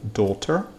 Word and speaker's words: daughter: The next, daughter, a-u, читается как длинный звук o, daughter, a-u, August в этих случаях.